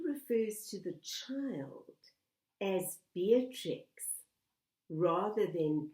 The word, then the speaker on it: Beatrix: fact that he refers to the child as Beatrix rather than beatric suggests an affectionate mispronunciation of the name but it may also